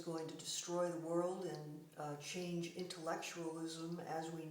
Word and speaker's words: Ayn: popularly known but her first name is actually pronounced an it's a YN she immigrated from Russia to